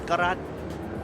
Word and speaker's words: Garat: I have to be a little bit of shameful there, not knowing that his correct pronunciation was Garat.